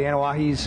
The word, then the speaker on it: Anoa'i: And, you know, I mean, I really do respect the Samoan family, the Anoa'is, and that's how you say it, by the way. Get it right.